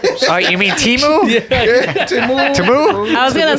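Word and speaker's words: Temu: That's the new way to say it. Yeah. I was like, what the fuck is this? I've You just keep saying Timu. I've been saying it wrong the whole time.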